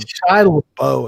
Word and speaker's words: Shia LaBeouf: Shia LaBeouf is how that's pronounced. Shia LaBeouf.